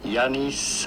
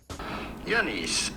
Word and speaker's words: Giannis: in greece to nigerian parents oh my god pronouncing his name simply janis antetokounmpo giannis okay giannis so yeah i did indeed [